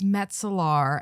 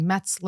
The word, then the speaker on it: Metar: know how it is my last name is a mouthful yes and no one ever pronounces it they say they say so it's Metar and they say metler or Meltzer or like it's just